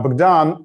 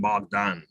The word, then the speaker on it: Bogdan: saying uh that you're saying my name bogdan as it is in ukrainian because i get used to listening to someone who's calling me bogdan most of the time and it's a little